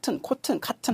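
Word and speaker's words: cotton: 솜인데 우리 코튼 하는데 정확하게 미국 발음으로 하시려면은 그래요. 컷하고 좀 쉬셔야 됩니다. 좀 길게 컷 발음하고 좀 끊고 쉬고 컷은 하셔야지.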